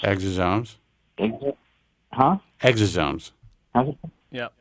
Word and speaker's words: exosomes: he recommends I take this new stuff called exomes. Is that how it's pronounced? Exosomes.